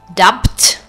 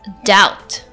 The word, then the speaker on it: doubt: In the next word, dot, I'm not pronouncing the letter B. I'm not saying dubt. It's doubt.